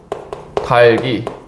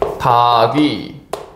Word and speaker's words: 닭 위: 자 그다음에 이거 볼게요 닭 위 닭 위 같은 경우에는 달기 요렇게 됩니다 오 달기가 아니죠 왜 달기가 어머 절 욕 해주세요 어머 무슨 소리야 달기가 아니죠 다귀 이렇게 되죠 다귀 자 그러면 이것도 한번